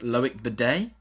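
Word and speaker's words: Loïc Badé: And they're bringing in, I'm going to say it's pronounced Loic Bidet. Yeah, it is. Yeah, there's an accent there.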